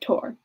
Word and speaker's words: Thor: She pronounced it Tor.